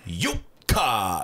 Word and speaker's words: Jukka: When Jukka always introduces himself, he's always Jukka. I'm like, well, shit. First syllable up, everything else down.